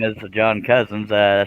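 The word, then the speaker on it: Cosens: who's yeah c-o-s-e-n-s it's spelled cozens but it's pronounced cousins yeah and this is the guy that was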